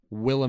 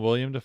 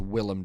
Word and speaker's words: Willem: goblin yeah william willem willem is not william no it's willem dafoe are you spelling